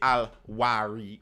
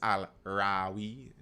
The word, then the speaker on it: Al-Rawi: You know how many people say Al-Wari while his name is Al-Rawi? It's just always something I always like. I mean, it's spelled so often. It's Al-Rawi, but okay, cool.